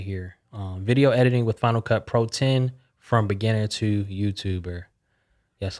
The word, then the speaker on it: Final Cut Pro X: Yes, a lot of people say Final Cut Pro X, but it is pronounced 10. It's the Roman numeral, so Final Cut Pro 10 for all the nerds out there that care about that stuff, including myself.